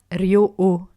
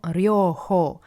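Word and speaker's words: Ryōhō: Ryoho, de nouveau les H qui sont prononcés comme en anglais ou en allemand, donc ce n'est pas Ryoho. C'est vraiment Ryoho.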